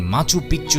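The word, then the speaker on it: Machu Picchu: Inca সভ্যতার অন্যতম নিদর্শন হল মাচু পিচু। অনেকেই এটিকে উচ্চারণ করে থাকেন মাচু পিচ্চু হিসেবে, যার অর্থ হল পুরনো চূড়া।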